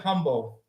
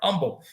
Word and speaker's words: Humble: Humble. I'm sorry, Umble. I was just telling my wife the other day that we don't pronounce the H.